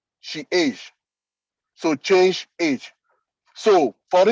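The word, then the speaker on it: chage: e c h a g e is is pronounced she age so change age so for instance that you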